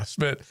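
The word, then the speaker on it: Szmyt: And then and then that's how you pronounce it. I don't have no idea. I think it's Schmidt. Yeah, Smid.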